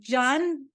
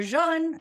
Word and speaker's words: Jun: oh please do just John or June or Jun or however you want to say it I we say Jun rhymes with fun Jun is kombucha's raw